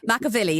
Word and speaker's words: McAvilly: I just butchered your surname. I do apologise. McAvilly, isn't it? It is.